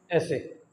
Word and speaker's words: ese: एस को हम pronounce करेंगे ऐसे।